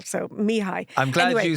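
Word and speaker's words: Mihaly: it is is phonetically so it's Mii um Chek Mii that's his name and Mii is spelled something like m i k h a l so Mii I'm glad you said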